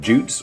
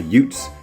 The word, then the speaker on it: Jutes: There's also a third, the Jutes or the Utes, depending on your pronunciation, but we're going to focus on the first two.